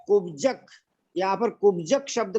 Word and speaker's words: कुब्जक: Please Sonu बहन जी आपसे request है कि कुब्जक, यहाँ पर कुब्जक शब्द का उच्चारण करना है। कुब्जक, हाँ कुब्जक, बजक, कुब्जक, हाँ KUBJAK, कुब्जक, हाँ कुब्जक, इस प्रकार संस्था है।